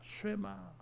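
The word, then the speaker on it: שמע: 들으라고 하는 이 단어가 히브리어로 발음을 하면 쉐마예요. 들으라, 쉐마.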